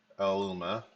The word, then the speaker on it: Aluma: Aluma oh wait no I put a pronounciation Aluma as in the drink s Aluma who who